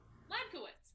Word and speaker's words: Hladkowicz: lad co wits bed cowitz i was close lad kowitz just guys it's it's not that hard you